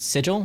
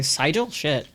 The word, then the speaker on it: sigil: last very last guy they mispronounced sigil what do they what do they say SEL this